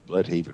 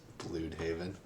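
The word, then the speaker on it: Bludhaven: where they said that you've been pronouncing bloodhaven wrong all this time blue haven yes because there's a two dots over the u or something like that okay uh so yeah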